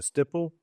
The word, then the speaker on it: estoppel: I got to have everything in writing, and I've got to have a, was it a stipple? Is that how you say it? From estoppel letter?